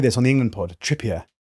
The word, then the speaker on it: Trippier: Trippier. Yeah. Trippier. I like to Frenchify it.